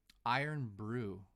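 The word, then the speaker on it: Irn-Bru: mood guys I apologize pronounced iron iron Brew I've never heard of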